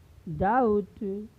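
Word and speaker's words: doubt: पहले आया है तो यहाँ पर बी का उच्चारण नहीं होगा, यानी इसे क्या पढ़ा जाएगा? कॉम, थॉम, डेट, डाउट, लैम, डम।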